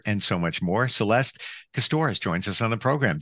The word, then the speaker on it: Kostohryz: Celeste Kostohryz joins us on the program.